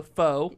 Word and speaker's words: pho: here, and it's PHO, so pho, Mm-hmm. and then King, KING, and then it's GUD, Pho King Good. It's pronounced pho.